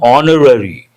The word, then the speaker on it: honorary: We use the indefinite article and before words that begin with a silent or mute H. For example, an hour, and here an honorary degree.